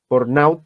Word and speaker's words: burnout: El síndrome de burnout, siempre me corrige Mauricio cuando lo pronuncio, así que si aparece ahí me corrige, burnout.